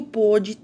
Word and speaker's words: pôde: Aqui o pôde tem acento, diferente do pode, né? Até mesmo a pronúncia é diferente, né? O pôde tem um som fechado e o pode tem um som aberto.